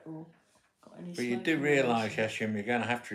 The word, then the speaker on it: Yesim: How do you spell it? Y-E-S-I-M. Yeshim. Just say yes or no. Yeshim. Yeshim or yesim? Yeshim.